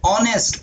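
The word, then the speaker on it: honest: ऑनेस्ट ओ से पढ़ा जा रहा है, एन आ गया।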